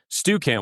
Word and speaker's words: Stukent: So, Stu Kent, which you got right, it's spelled S T U K N T. And most people, since we're based out of Idaho, have just assumed that we've misspelled the word student.